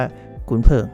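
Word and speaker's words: 鲲鹏: วัน นี้ ใช้ เป็น คุน เป๋ง นะ ครับ ภาษา จีน อ่าน ว่า ขุน เผิง นะ ครับ ผม ซึ่ง ค่า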